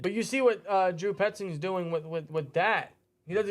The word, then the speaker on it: Petzing: Electric says, Drew, how do I pronounce his name? Petzing.